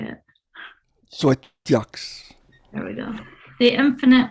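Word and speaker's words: Xoeteox: His 10 books of poetry include, I still don't know how to pronounce it, Edwin, Zoetox, how do you say it? Zoetox.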